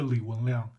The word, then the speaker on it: Li Wenliang: Leigh Whannell was officially pronounced dead from the infection of corona virus